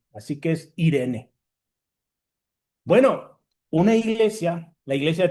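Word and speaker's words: εἰρήνη: De hecho, no se dice eirene, eh, aquí yo estoy diciendo mal. De hecho, se dice tal cual Irene, porque cuando hay una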